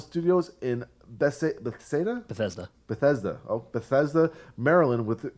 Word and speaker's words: Bethesda: own visceral sound studios in Bessie the Seder Bethesda Bethesda Opeth ESDA Marilyn with guitarist Scott hull